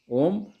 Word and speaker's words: ओम: पर लिए प्रतिरोध का मात्रक ओम प्रतिरोध का मात्रक इसको ॐ के उच्चारण करते हैं प्रति प्रतिरोध लिए हैं